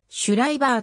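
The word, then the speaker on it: シュライバー: 発音は dml iv 守礼バーはドイツ語読みでシュライバーと本人は発音している俳優のパブロシェ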